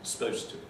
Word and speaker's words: supposed to: And the similar one, though not quite as long, is supposed to, where you have here this section supposed to as ST, supposed to. So often you leave out this first vowel as well. Supposed to is what you often hear people actually saying in